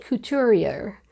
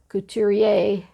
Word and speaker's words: couturier: Oh, I did think of one other, but it's kind of hard to say, and it's a French term called couturier. Couturier, couturier. Anyway, I'll spell it out.